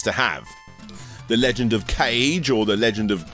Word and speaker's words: Kage: The Legend of Kage, or the Legend of Kage as it's apparently pronounced, came out in 1985, and honestly, I'm not the biggest fan.